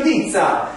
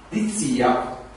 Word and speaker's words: D'Izzia: Dizia. Uno lo legge la prima volta, può sbagliare l'accento, dire Dizia. Però te lo dico, te lo spiego, dico Dizia.